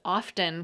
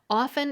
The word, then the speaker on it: often: during the 17th century the T pronunciation was widely adopted by educated speakers perhaps as a spelling pronunciation that's the phenomenon where